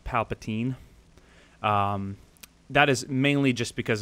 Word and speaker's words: Palpatine: I also said Palpatine, or Palpatine, sorry, while it's meant to be pronounced Palpatine.